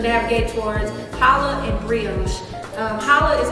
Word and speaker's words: challah: It looks like challah, but it's pronounced challah. So holla back at your girl, that type of thing. I love challah just because if I'm